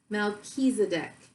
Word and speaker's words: Melchizedek: Pronounced Melchizedek. Melchizedek. Melchizedek is a high priest who is mentioned in the Bible's book of Genesis and many other sources too.